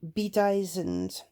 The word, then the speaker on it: bedizened: And I would say bedizened, that B, the E sound at the beginning, I would pronounce that as an E.